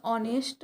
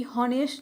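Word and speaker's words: honest: हमारा question number 20 है dash ऑनेस्ट girl और यहां पर भी होनेस्ट नहीं होगा। एच से नहीं होगा। यहां पर हम अगर ऑनेस्ट बोलेंगे बहुत सारे लोग ऐसे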